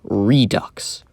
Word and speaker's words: Redux: I like to call it Horror Pantomime Redux. Rhymes with gross.